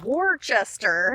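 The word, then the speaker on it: Worcester: it after so and I think it still comes from that same pronunciation that it was in England okay mr.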